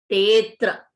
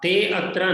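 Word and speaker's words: तेऽत्र: But when we pronounce it, half matra is extra. Evam na. Tetra eva. Tetra. Tetra. Te atra na. Tetra eva. So this is only a symbol for in the written form, not for pronunciation. So if you say tetra, it is correct. If you say te atra or half matra, those no.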